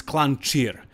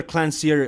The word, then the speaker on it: Klancir: peter it's pethar and his last name is clan cheer so you can try to remember it but peter clancier also works i guess so finally he got